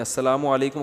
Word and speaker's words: السلام علیکم: السلام علیکم اور صلی اللہ علیہ وسلم کا صحیح تلفظ بتا دیں. السلام علیکم کا ہے السلام علیکم, جو آج کل لوگوں